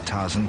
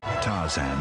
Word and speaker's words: Tarzan: it ronley now at McDonald's there are eight Taran characters but then he pronounces it the right way Tarzan is the Epic new film from Disney why